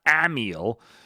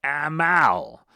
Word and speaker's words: Amyl: __ ] pronunciation again not Amil but Amal e example anal spelled AML so I'm I'm getting